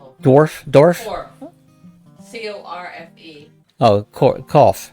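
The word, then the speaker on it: Corfe: Oh, Cough. They called it Cough. It sounds like cough.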